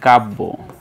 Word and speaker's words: কাব্য: আমরা জানি যে জফলা যদি আসে কোন বর্ণের সাথে তাহলে সেটা দুইবার উচ্চারণ হয়। যেমন আমরা এখন যদি বলি কাব্য তাহলে আমাদেরকে লিখতে হবে কাব ব। দেখো এখানে ব কিন্তু আমরা দুইবার লিখেছি।